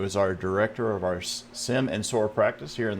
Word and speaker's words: SIEM: it's important absolutely so sim or sometimes pronounced seam as you may have heard it basically stands for security